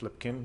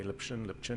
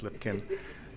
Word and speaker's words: Lipkin: So I'm Lipkin, for those of you, and it is pronounced Lipkin. You can say Lipchin if you want to, really. But officially it is Lipkin.